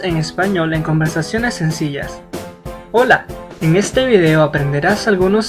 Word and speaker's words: Hola: significa Hello en español recuerda pronunciar Hola y no jla puedes usar el saludo